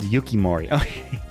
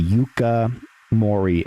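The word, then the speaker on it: Yuka Morii: No, I guess it's called Yukimorei. Yukimuri. Okay. Yuka. Y u k a yuka mori.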